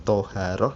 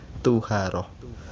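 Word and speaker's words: طُهارة: Amma tuharotu, adapun lafal tuharotu, bidommi, dengan dibaca domah toknya, jadi bukan toharoh tetapi tuharoh.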